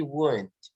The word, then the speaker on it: won't: In spoken English, will not is usually won't. Memang bacanya won't.